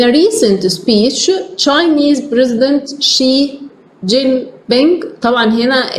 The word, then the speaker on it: Xi Jinping: يعني مثلا احنا هنا الكلمه دي شي هي بادئه باكس, بس احنا عندنا مش هننطقها اكس مثلا, احنا لا هنقول شي لان هما ليهم نطق